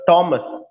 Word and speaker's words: Thomas: टी एच जहां पे आता है हम लोग था निकालते हैं, तो था नहीं, थॉमस नहीं, मीन्स टॉमस। जैसे टॉमस हार्डी होंगे, थॉमस हार्डी नहीं, टॉमस हार्डी।